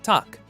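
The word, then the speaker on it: Takk: hello and Icelandic is pronounced Hollow thank you is talk yes is yah no is nay goodbye is bless 14.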